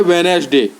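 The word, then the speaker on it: Wednesday: आपका दिया गया है वेनसडे तो वेनसडे दिया गया है तो इसमें आपका हो जाएगा वेनसडे तो इसमें केवल हम डी डी साइलेंट रहता है वेनेस डे हम आ गए तो यहां डी साइलेंट है तो हम डी लिख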